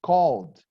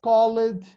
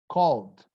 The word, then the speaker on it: called: Steve Wanda wrote the classical song I just called you never heard him saying I just call it no I'm sorry I'm terrible singer but I